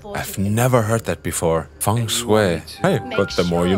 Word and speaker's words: feng shui: It is pronounced feng shui. I've never heard that before. Feng shui.